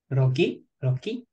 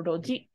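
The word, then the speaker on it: 路地: Roki. Good guess. It's actually ji. So this is going to be pronounced either as chi or ji. So it only has two possible pronunciations. Chi or ji. When it's pronounced as which, it's pretty random. For example, chizu. Chizu. It's pronounced as chi for map. But this right here is ji. So roji. Roji.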